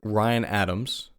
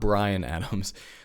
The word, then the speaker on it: Ryan Adams: Singer-songwriter Ryan Adams. No, I didn't mispronounce the name. It is Ryan Adams, not Bryan Adams.